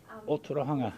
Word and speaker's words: Ōtorohanga: Ōtorohanga. Ōtorohanga.